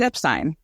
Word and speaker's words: Epstein: about pronouncing an Epstein the correct way to pronounce it it's Epstein Brian Epstein is the correct way to pronounce